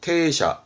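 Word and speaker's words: 停車: 발음은 테샤, 음독의 테입니다.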